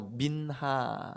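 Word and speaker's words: מנחה: 이렇게 써라 보세요 믿나 히브리 말로 민나 이렇게 발음 해요 소재 근데 이 소재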